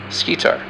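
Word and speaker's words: Schedar: The brightest star in Cassiopeia is pronounced Scitar, which is an Arabic word meaning breast.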